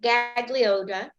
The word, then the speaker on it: Gaglioti: middle you do but you blend it with the with the L and it makes like a y sound like yeah like million yeah gallery no it's